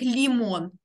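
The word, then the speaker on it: limón: Зверніть увагу, я тут не могла поставити наголос, але тут не лімон, а лімон. Хоча, якщо б не було цього наголосу, то ми б читали як лімон, тому що наголос на передостанній склад.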